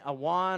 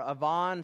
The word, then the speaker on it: avon: And then awan or avon, some pronounce it, is going astray.